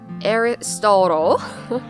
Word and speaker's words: Aristotle: Everyone, the three famous Greek philosophers, can you say the English pronunciations? Socrates, Aristotle, and Plato.